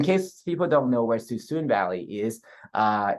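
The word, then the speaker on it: Suisun: people don't know where suzune valley is uh it's spelled s-u-i-s-u-n so it's not suicide it's too soon um and it is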